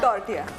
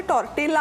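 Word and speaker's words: tortilla: ए रे नाही आय so Mexican लोक किंवा स्पॅनिश भाषेमध्ये ल चा उच्चार य होतो म्हणजे टॉर्टियाचं स्पेलिंग ऍक्च्युअली टॉर्टिला आहे आपण जर वाचलं तर ते टॉर्टिलाच वाचणार किंवा किसेला असं स्पेलिंग होतं ते आपण पण ते बोलताना किसे होतं अच्छा टॉर्टिला असं स्पेलिंग आहे पण नाव आहे टॉर्टिया हलकेसे भाजून घेऊया हं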